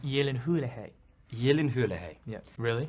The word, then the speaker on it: Gyllenhaal: it pronounced Gyllenhaal Yeah. or Gyllenhaal? It's pronounced Gyllenhaal.